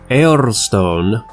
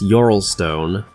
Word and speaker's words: Eorlstone: Now, Eorlstone, which for some reason people pronounce Yorlstone, and I don't know, maybe there's something to that pronunciation, but I'm gonna keep on calling it Eorlstone until somebody gives me a reason not to.